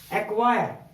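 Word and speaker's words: acquire: दोस्तों अगला जो हमारा नियम है वो है यदि सी और क्यू एक साथ हो तो वहां पर सी साइलेंट होता है। फॉर एग्जाम्पल एक्वायर, अब सी के बाद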